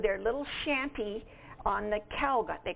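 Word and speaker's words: Keleg: little shanty on the Kelg, they called it, K-E-L-E-G. Does that sound right, Ilsa? E-G? Kelg? Anyway, that's how I pronounce it.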